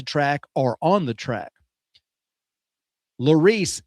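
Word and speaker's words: Laris: Lorice is their name. They spell it L A R I S.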